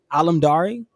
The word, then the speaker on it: Alamdari: Is it Alamdari? Yes, yeah, it's exactly how it's spelled.